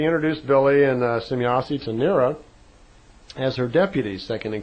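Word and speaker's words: Nera: And Nira, and it's spelled N-E-R-A, she's a dark brunette-looking woman, very nice-looking woman, and I'd like you to meet Nira.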